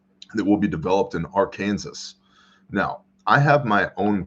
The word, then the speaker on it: Arkansas: Anyway, Arkansas, but don't even pronounce it as Arkansas. Arkansas. Why does it have another S on the end?